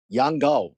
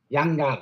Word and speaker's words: Yang Gao: Yang Gao. Yang Gao, okay.